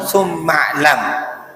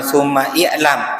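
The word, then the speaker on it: ثُمَّ اعْلَمْ: Kalau dibaca langsung summa'lam. Bacanya bukan summa i'lam, tapi summa'lam. Ya sebelum ain itu enggak kebaca.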